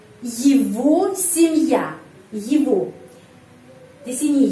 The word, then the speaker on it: семья: Kenapa di sini huruf Y pengucapannya I? Karena tidak mendapat penekanan. Kalau huruf Y tidak mendapat penekanan, huruf Y dibaca I. Семья. Di sini penekanannya pada huruf Ya. Dan huruf Ya kalau mendapat penekanan, itu video 33. Kalau mendapat penekanan, huruf Ya pengucapannya Ya, seperti namanya di alfabet.